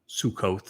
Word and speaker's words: Sukah: The verbal root of suka sukot is sometimes is how it's pronounced but it's suka is sakra.